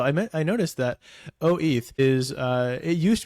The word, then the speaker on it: OETH: the case that uh if you were to really pronounce that word it would be oth instead of O eth but I lost that